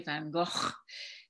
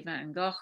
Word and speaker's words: Van Gogh: and of course the the dutch sage in a very guttural way van gogh in england we say van gogh and in america we say mango so pepsi had a